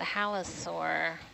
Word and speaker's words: halosaur: oh there they are that halosaur mm-hmm this morning which i keep wanting to like rhyme with dinosaurs oh me too um